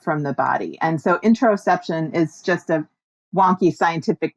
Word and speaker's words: interoception: Interoperception. Interoperception. Oh, sorry. I said it wrong. Oh, okay. Interoception. Like interoception. Yeah, we got it.